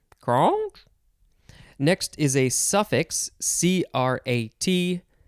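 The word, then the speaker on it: -crat: next is a suffix c-r-a-t noun you'd pronounce it crat noun one advocate or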